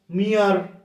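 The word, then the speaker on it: mere: এ আর, ইয়ার, ইয়া ইয়া ইয়া, ইয়ার মতো উচ্চারণ হচ্ছে, এম ই আর ই, মিয়ার, মিয়ার, এম ই আর ই, মিয়ার, মিয়ারলি, অনলি, মিয়া, আ আ, ইয়া ইয়া, ইয়ার মতো উচ্চারণ হচ্ছে না।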